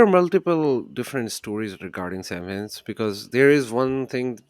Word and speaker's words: Samhain: It's not Samhain. It's pronounced Samhain, right?